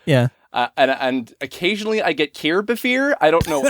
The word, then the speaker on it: Kirbopher: Kirbopher. It's like Christopher except Kirbier.